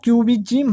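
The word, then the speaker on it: cubism: हालांकि पिकासो का मैंने आपको बताया कि इनकी जो पेंटिंग है वो क्यूबिज्म है।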